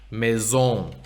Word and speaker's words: maison: And French has a lot of this, like S's that sound like Z's. like house in French, maison, right?